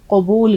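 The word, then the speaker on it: قبول: plus वाव plus लाम अब देखिए इसका आपका उच्चारण बिल्कुल ठीक होना चाहिए हसने वाली बात नहीं है ये उच्चारण ठीक नहीं होगा तो अगर आप में से भी किसी का निकाह हो रहा होगा तो बोलेंगे कुबूल है तो बड़ा खराब लगेगा इसलिए काफ की आवाज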